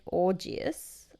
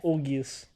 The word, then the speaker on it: Augeas: So there's a king named Augeas. I hope I'm saying that right. But anyways, So King Orgy. well, it's spelled A-U. A-U-G-E-A-S. Orgius. Augeas? Yeah, maybe.